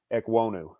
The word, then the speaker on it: Ekwonu: here and i can't say it it cam ekwonu there yeah it's like same thing right and